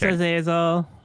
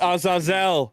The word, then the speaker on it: Azazel: Thanks, Azazel. 3 costumes. It's Azazel. Say it correctly, please.